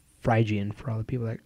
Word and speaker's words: Phrygian: So, and it's Phrygian for all the people that always correct me on my mispronunciation of that word I hate.